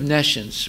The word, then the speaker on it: nescience: Nescience. N-E-S. See, it's here. Actually, it's ne-science. That's not the way to pronounce it, but it's ne-science is pronounced nescience.